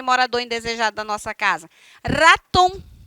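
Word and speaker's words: ratón: Raton, raton. E precisa tremer esse R todinho, precisa, porque é assim que é a pronúncia.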